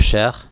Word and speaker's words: cher: consonant is always pronounced a word such as share which means dear when the word share is followed by a